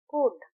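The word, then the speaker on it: could: कुड सी ओ यू एल डी कुड हम फुलड नहीं कहते हम प्रोनाउंस करते हैं कुड तो यहां एल साइलेंट है।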